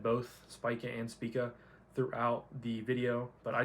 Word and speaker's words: Spica: said both spika and spika throughout the video but i truly don't know how to pronounce it but in my head s-p-i-c-a because p-i-c-a is pica so it would be spika but um yeah so